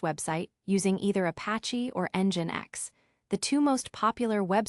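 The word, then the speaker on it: nginx: Choosing your web server, Apache or Engine X. Both Apache and Engine X, pronounced EngineX, are excellent choices for hosting web content, and both are widely used.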